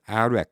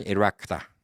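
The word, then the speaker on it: Iraq: 나라를 갖다가 미국은 아이란, 아이렉 이렇게 읽었어요. 아이란, 아이렉. 이게 계속 이렇게 I로 읽으니까 나중에 CNN 방송국에서 캠페인을 한 적이 있어요. 제가 그걸 기억해요. 20대 초반인데. 아이란이 아니라 이란, 이라크다. 그래갖고 E로 읽어야 된다.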